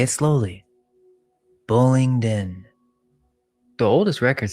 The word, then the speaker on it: Bullingdon: Bullingdon. The oldest records spell it Bullsden in 1179.